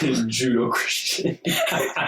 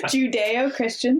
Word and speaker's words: Judeo-Christian: My point was like Jesus doing like katas and stuff in the front yard, just like Judo-Christian. Judeo-Christian, thank you for correcting me.